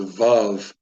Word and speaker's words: Vav: that I was taught I was not taught to use it as a w but to use it or just to pronounce it with a V and in that case